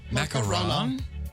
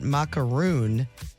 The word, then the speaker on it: macaron: It's not ma It's not macaroon. That's a different macaroon is what I say. It But the That's a different thing. That's a different thing. That's a different cookie. That's a different thing. There are two cookies. One m a c a r o n one m a c a r oons.